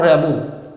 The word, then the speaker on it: Rimbaud: Rimbaud, the pronunciation, note as the pronunciation, Jean-Nicolas Arthur Rimbaud.